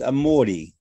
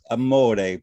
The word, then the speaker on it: amore: is not pronounced a like Amore but it's pronounced amori and I always know someone who's British trained